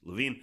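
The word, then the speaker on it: Levine: This guy's last name is pronounced Lavine.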